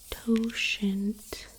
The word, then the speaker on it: totient: So we have Euler's totient function. So the next time anyone tries to stump you by asking you for a word that rhymes with quotient, you've got it right here.